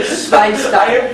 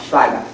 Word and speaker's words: Schweinsteiger: Now, another thing to remember is always when there's an E after an I, you always pronounce the E. If there's an I after the E, you always pronounce the I.